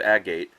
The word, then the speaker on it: agate: all different types of a gate or agate whichever way you want to pronounce it and it's completely filled